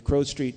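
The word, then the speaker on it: Crowe Street: top floor of the Crow Street Temple so in Dublin downtown there's a place called Crow Street it's like a crow but it's spelled with an E CR we and uh we had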